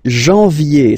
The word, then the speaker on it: janvier: But anyway, janvier. So that's the way to pronounce it. Janvier, A-N, en, okay? And then yé, yé, yé. Janvier.